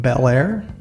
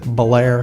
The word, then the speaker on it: Bel Air: to a place called Bel Air that's how you pronounce it in most parts of the country we pronounce it Blair here today we're just head